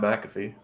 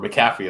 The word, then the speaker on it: McAfee: the man of the myth, the legend, Pat McAfee, or McCaffy as some people like to joinly pronounce his name as.